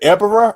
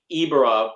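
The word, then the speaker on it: Ebirah: Is it Ebera or Ibera? As a kid, I would say Ibera, but getting some knowledge, Ebi is shrimp in Japanese. Even though, so I know it's Ebera, but I would say Ibera.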